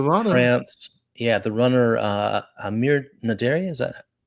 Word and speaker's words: Amir Naderi: Amir Naderi. Is that how you pronounce that?